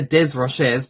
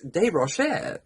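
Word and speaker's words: Desrochers: okay wow I used to call her Lisa Des rochers because her surname is d-e-s-r-o-c-h-e-r-s c-h-e-r-s um so I would literally pronounce the word her surname phonetically and say des rochez and then I was corrected and pulled out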